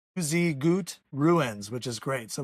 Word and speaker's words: Tuzigoot: I got to look at my paper to remember the name and how to pronounce it. They say it's Tuzigoot Ruins which is great.